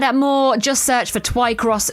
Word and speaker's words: Twycross: more just search for TWI cross zoo that is spelled tww y by the way uh